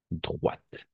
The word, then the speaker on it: droite: euh d'accord comme ça droite on va prononcer comme ça avec le T quand la t final